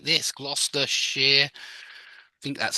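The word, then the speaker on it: Gloucestershire: that it's Worcester gler Shear is like this gluster Shear I think that's how you spell it um gloss yeah warik sh exactly you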